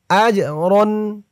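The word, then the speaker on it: أَجْرًا: সাকিন সানুতিহিম উলাইকা সানুতিহিম আজরন আজ হামজা দিয়ে জিম ধরবে এই জিমটা কলকলার হরফ ধাক্কা দিয়ে পড়তে হবে আজ রন আজরন সানুতিহিম আজরন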